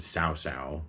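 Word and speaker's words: Cao Cao: the romance games is a guy named sow sow see a OCA o is how that's spelled but sow sow has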